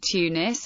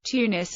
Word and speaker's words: Tunis: Etymology: Tunis is the transcription of the Tunisian Arabic name, which can be pronounced as Tunis, Tunis, or Tunis.